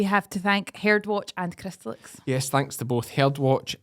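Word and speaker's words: Cymru: Hannah Jacob from uh cry yes which I think is how you say Wales and Welsh is is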